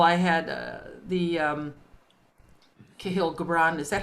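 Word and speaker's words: Kahlil Gibran: a little girl i had uh the um kahil gabrand is that how you say his name yes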